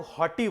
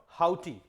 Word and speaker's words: haughty: तो एक वर्ड होता है हाउटी, बहुत सारे लोग हॉटी बोल देते हैं, but correct pronunciation is what, हाउटी।